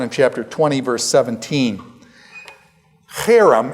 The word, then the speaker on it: herem: chapter 20 verse 17 harem it's pronounced harem it's a hard H okay it's a it's